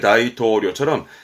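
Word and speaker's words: 大統領: 발음은 요료. 대표 단어로 요령의 요료라든가 아니면 뭐 대통령의 다이토료처럼 대표적인 부분들로 기억하시는데 하나 더 봐주셔야 할 게 영수서입니다.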